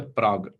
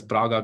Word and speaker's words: Prague: So, I mean, it's quite funny in our setting if you call it as Praga classification, like nobody likes it. So that's why I stick on to our original Indian pronunciation in the form of Prague classification.